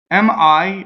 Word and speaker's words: mi: still roll ok so mi me is a week mono syllable ok so I always makes an e sound in Italian right and mi is a week monosyllable meaning it does not